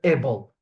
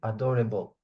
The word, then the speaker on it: adorable: I don't want to hear able. Okay. Adorable. Ab. It's not able. Okay. The A is never is never pronounced in French. The A is always pronounced a adorable.